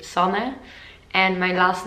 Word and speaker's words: Sanne: to pronounce my name so in touch they say sana and my last name